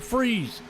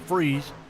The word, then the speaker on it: Fries: All right, tell you what, Brandon Freeze. Last name is spelled Fries, but he goes by Freeze. So Brandon Freeze, trying to freeze the field right there.